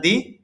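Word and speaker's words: the: যে টিএইচ এর পরে যদি ভাওয়েল আসে তাহলে দি আর কনসোনেন্ট আসলে দা এখন খেয়াল করেন ইংলিশ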